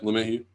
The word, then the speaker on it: LeMahieu: LeMahieu, is that how you pronounce it? Yeah, LeMahieu.